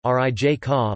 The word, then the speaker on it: Rijeka: Rijeka, Croatian pronunciation, Rijeka, listen, Italian, Fiume, Fju mi, Slovene, Reka, German,